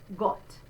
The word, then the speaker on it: Gott: That's the open O. You see I do have my pucker, O, but it's a bit more open than O, Gott.